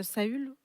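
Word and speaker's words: Saül: ça parle de David qui fuit en fait saull ouais c'est comme ça qu'on le prononce et euh ça dit dès lors et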